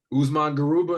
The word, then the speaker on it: Usman Garuba: I feel like I'm butchering his name, but Usman Garuba, am I saying his name right?